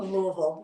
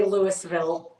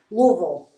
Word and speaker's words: Louisville: Louisville yes I know I do not say Lewisville who says that anyway who would even say that like that at this point Louisville you's got to have Laz lazy mouth to say Louisville um I'm I really